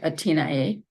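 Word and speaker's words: Athénaïs: anriette um and um Athan um which should be pronounced atina um they were all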